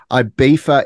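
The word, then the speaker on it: Ibiza: going to question this I beefa is how it is pronounced I know it's got a zed in it but IA it's IA just so our fellow Aussies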